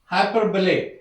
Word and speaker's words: hyperbole: हाइपरबोले, इट्स द वे it pronounces हाइपरबोले।